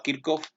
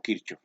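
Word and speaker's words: Kirchhoff: manejan 2 deseamos que se pronunciaba a kirk off y algunos los pronuncian como kirch pero realmente lo que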